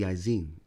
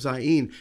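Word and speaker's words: zayin: the next letter is the izine or the zain excuse me we have a left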